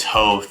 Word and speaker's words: Howth: There was no shortage of comments saying, hey, it's not Howth, it's Howth. But now I know it's Howth, okay guys?